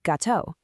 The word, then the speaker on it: gâteau: Before an E, I, or Y, you get a soft J sound, like the S in treasure. Think manger. Before A, O, or U, you get that hard G sound we all know, as in gâteau.